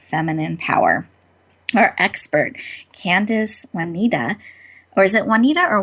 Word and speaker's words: Oneida: Our expert, Candice Oneida, or is it Juanita or Wine? Do you mind telling me your last name? Oneida. Oneida. Thank you. Oneida. I want to make sure I'm pronouncing things correctly.